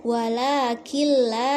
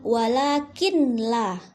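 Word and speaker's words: وَلَٰكِن لَّا: di akhir ayat ke-12, walakil la yash'urun. Jadi di situ ada nun sukun ketemu dengan lam tasydid. Jadi bacanya bukan walakin la, karena ada nun sukun jadi nunnya disukunkan, walakin la. Itu salah ya.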